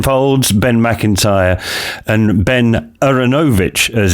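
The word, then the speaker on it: Aaronovitch: Yep, we have the three Bens, Ben Folds, Ben McIntyre, and Ben Aronovich, as it's meant to be pronounced, I have found out.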